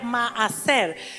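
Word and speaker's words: מעשר: palabra hebrea palabra diezmo es la palabra hebrea maer se escribe m a a s e r y la segunda a lleva tilde para los que tienen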